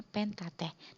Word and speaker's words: Pentateuch: Kalau kalian punya buku paket, di situ ada tulisannya gimana, kalian lihat sendiri, Pentateuch tulisannya, tapi bacanya Pentateh. Nah, 5 ini yang disebut Pentateh.